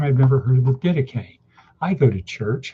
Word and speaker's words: Didache: So again, theme of today, Didache, anyone? Didache. Try to say that. Didache. It looks like it's pronounced Didache.